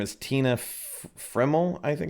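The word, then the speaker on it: Tina Friml: Her name is Tina Frimmel, I think it's how it's pronounced, Friml.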